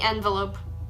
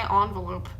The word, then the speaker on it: envelope: cents on it envelope I know it should be envelope but I always say envelope by saying envelope it sounds like you should be started with an O non e now we're